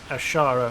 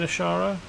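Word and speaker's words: Azshara: leaves and vanish ashara it's spelt differently but it's pronounced almost the same as ashara which is a location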